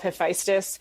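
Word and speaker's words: Hephaestus: refer to him as hesus even though in the book just so people know I do have him called hephestus because that is the more Greek way of pronouncing and spelling his name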